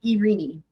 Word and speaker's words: Irini: She pronounces her first name Irini.